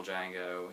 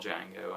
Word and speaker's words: Django: And then he makes him spell Django, and then he says the D is silent, and Nero says, I know.